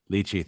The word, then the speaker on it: lychee: notes of peach, berry, and how do you pronounce Lychee. it? Lychee.